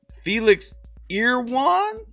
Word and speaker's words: Felix Irwan: told me last time i said it wrong felix ear one felix ear one was the top artist for